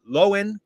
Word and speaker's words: Lohan: Sorry, Lohan. Because apparently we've been saying her name wrong this whole time.